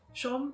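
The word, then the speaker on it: Shum: and like dancing the hardest to has been Shom. Shom, that's how you pronounce it.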